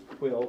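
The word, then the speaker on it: Pwyll: Here's one, Quill or Puch if you're Welsh, although I had a Welsh person in my audience recently. She said, that's not how you pronounce it.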